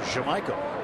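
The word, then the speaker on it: Yamaico: He has informed us he wants his name pronounced Jamaica. Even though turn the Y to a J, huh?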